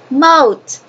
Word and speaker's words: mote: We have a silent E. Okay? So, let's prove vowel, and this vowel is silent, so this is long. What's pronunciation of this word? Mote. Okay? Recuerden que la E le da el sonido vocálico largo.